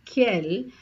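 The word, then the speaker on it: quelles: l l e s so however the pronounciation Remains the Same for all four of them it is K I have given two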